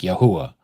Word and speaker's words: Yahuah: We don't know, but there are certain words like Yahuah, the name of the creator. We know that that's the pronunciation. Why? Because his people that are called by his name is Yahudah, which is Judah.